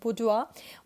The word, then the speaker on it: bourgeois: This word mentioned here is बुर्जुआ.